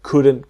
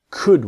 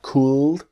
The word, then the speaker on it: could: the same same situation the L is silent so it's not cool but could practice with